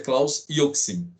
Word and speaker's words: Roxin: mas a pronúncia é yokto austin mas a pronúncia claus roxin e 900 também oi google o gunter iacs